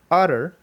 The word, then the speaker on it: utter: So again, taking the letter T, in the word utter, the T's are pronounced not with a T sound, but instead with a R sound.